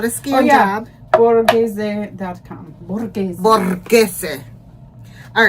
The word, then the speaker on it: Borghese: Borghese. I've heard that word before. Oops. Anyway, it's fancy. I know. It's Italian borghese.